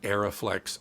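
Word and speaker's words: Arriflex: company arie aeroflex and by the way it's pronounced aeroflex and arie it's not pronounced re as all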